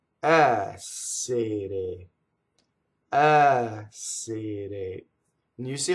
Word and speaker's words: essere: The ere conjugation is all closed E's, but the first syllable is open. Essere, essere.